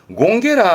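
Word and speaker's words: 権化: 이게 발음이 공개입니다. 공개라 함은 권력의 권자에 변화의 화자 아닙니까?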